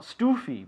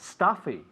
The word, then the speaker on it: stuffy: Not stoofy, but stuffy, stuffy. How do you say stuffy?